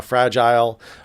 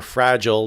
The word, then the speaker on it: fragile: So I said the KT fire shows us how fragile or fragile, depending how you want to pronounce it, our society is. Fragile or fragile, you can use both.